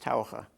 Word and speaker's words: Taucher: My name in German is pronounced Taucher. And I said, yes.